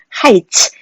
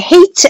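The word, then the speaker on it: heights: 가진 거라고 해서 뜨거 하이츠 이거 발음할 때 헤이츠 안됩니다 해 아니고 하하하 라고 발음해야 되요 그래서 웰딩 쓰바 때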